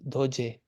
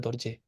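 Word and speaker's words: རྡོ་རྗེ: doesn't make any sound, this would be doje, right? So this is one exception where actually this ra on the second syllable does keep the sound. So this is how we spell dorje.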